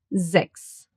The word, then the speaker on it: Sechs: The string S that gets pronounced as an Z at the beginning of a word and a soft S that gets pronounced as an S. Sechs.